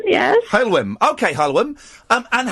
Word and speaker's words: Heulwen: How do you pronounce your first name? Heulwen? I'm Sunshine, yes. Oh. Heulwen, yes. Heulwen. Okay, Heulwen.